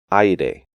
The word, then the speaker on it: aire: Remember that the AI diphthong is pronounced like English long I in words like ice, and the EI diphthong is pronounced like English long A in words like face.